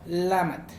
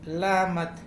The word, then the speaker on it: Lamatl: Y es Siwat o Lamat. Por aquí, Lamat, Siwat. Igual es una palabra muy, pero muy fácil de pronunciar.